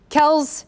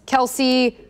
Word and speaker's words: Kelce: maybe the best response is clyde edwards lair kells kelsey kelsey holler hilaire elaire heel heel or hill